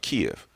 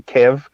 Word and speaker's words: Kiev: started letting those go thank you for pronouncing it the right way bgs because i keep on saying hearing people say kev and i'm like yeah i'm like even news reporters are not saying kiev and i'm like am